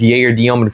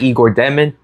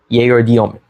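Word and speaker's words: Egor Dëmin: first guy I'm going to be discussing is Jayer Demen from the Brooklyn Nets. He was drafted eighth overall in this past summer's draft and yes, that's how you pronounce his name, not Igor Deman. Yay Domen.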